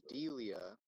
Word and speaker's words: Delia: Yes, Delia is how you pronounce it.